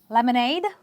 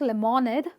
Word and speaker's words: lemonade: So you will say, can you give me some lemonade? Not lemonade. Lemonade. Can I have lemonade? You are stressing on the syllable ADE itself.